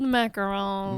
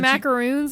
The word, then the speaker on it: macaron: Well, you want to say macaroons like an idiot? Since you learned, say it like a fucking hillbilly. Macaroons are a different kind of cookie, a different kind of pastry.